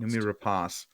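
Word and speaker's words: Noomi Rapace: why and numi race how do you say your last name uh numi rapas I believe is how it's pronounced numi rapas yeah uh her her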